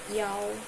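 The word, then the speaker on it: 幺: Kenapa aku baca satu di sini bukan I main ya? Biasanya kalau buat nomor telepon nomor nomor apa lagi? Ee nomor kamar kita pakainya yaw.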